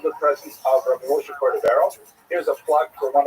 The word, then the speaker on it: Cordovero: Rabbi Moshe Cordovero, known by the acronym Rama, was a brilliant teacher. He was Portuguese. His name is actually Cordovero, but people pronounce it Cordovero by mistake.